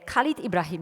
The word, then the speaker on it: Khalid Ibrahim: So my pronunciation is okay with your name, Khalid Ibrahim. Is it correct pronunciation? Yes, it's almost perfect.